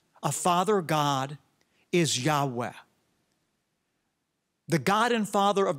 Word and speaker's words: Yahweh: Semitic schols believe is pronounced a breathy Yahweh so the Lord said